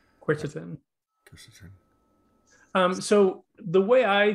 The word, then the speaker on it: quercetin: Ken is asking, are there main ingredients that you consider primary, say bromelain, or, and I don't know how to pronounce this, quercetin? Quercetin.